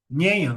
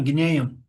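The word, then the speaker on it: jñāna: Guinéan, eu não sabia como pronunciar na última vez, né? Então eu fui ouvir os áudios do Swami hoje de manhã, Guinéan.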